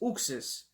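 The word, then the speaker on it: Uxas: to pronounce it so i was saying you access i didn't know then i heard zooxas but he says uxs and um you know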